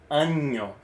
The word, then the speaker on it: año: of introduction is like imagine there's a Y at the end.